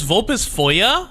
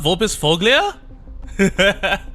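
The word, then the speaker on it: Vulpisfoglia: Her name is Vulpus Foya, not Vulpus Foglia. Oh, I haven't heard anyone pronounce it, so I thought it was Vulpus Foglia. I was like, man, that's an interesting. It's Vulpus Foya.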